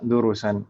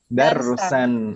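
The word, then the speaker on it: درسا: Masa durusan? Kalau durus itu biasanya setelah ro ada waw. Kalau seperti ini dibacanya apa? Darsan.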